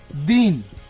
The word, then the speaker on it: दिन: इसको बोलते हैं दीन, दीन, और ये दिन। अंतर है दोनों के उच्चारण में।